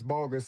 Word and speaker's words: Boggess: So it's bogus is actually the pronunciation.